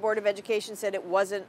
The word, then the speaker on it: Greta Thunberg: HE WALKS OUT, GETS A PICTURE WITH GRETA THUNBERG, I HOPE I AM PRONOUNCING IT CORRECTLY.